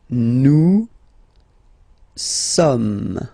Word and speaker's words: nous sommes: Nous sommes, okay. So you don't pronounce the final S here, it doesn't exist.